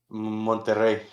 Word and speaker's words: Monterrey: um Because the all two this, teams left are I Monterey want and Nashville. Monterrey. Monterey? Okay. Wait, sorry, it's because I'm used to hearing it in Spanish. How do you say it in Spanish? Monterrey.